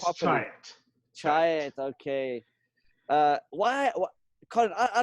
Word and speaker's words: Chiat: Chiat.